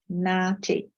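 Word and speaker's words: NAATI: for translators and interpreters the abbreviation is pronounced as Marty um so that is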